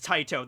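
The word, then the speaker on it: Tite: Oh, okay, so the correct way to pronounce his name is Taito.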